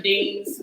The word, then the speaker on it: Eanes: I'm Deans. My last name is spelled D as in David, EANES.